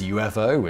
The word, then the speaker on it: UFO: among the general public he helpfully included a description of how to pronounce it so how did he says while that was UFO and while UFO did catch on you fo certainly didn't and now for another